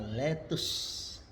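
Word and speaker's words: laetus: Contoh, tulisannya letus, dibaca letus.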